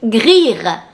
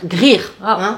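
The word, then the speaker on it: Gryr: Grir. Alors, G-R-Y-R, Grir. C'était facile.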